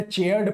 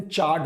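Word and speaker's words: charred: वहां पे प्रोनाउंसिएशन में चेयर्ड पढ़ दिया था, प्लीज थोड़ा सा ध्यान देना। इसका प्रोनाउंसिएशन चार्ड होता है, चार्ड होता है बच्चों प्रोनाउंसिएशन।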